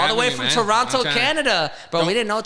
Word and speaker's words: Toronto: We say Toronto with a no at the end. Toronto, So it's not Toronto. It's Toronto. Toronto.